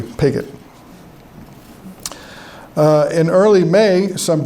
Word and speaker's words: Pigot: I used to think his name was Pjo, you know, nice French name, but then I read a diary and they, you know, they don't spell very well, but they do spell phonetically, so it's pretty clearly pigot.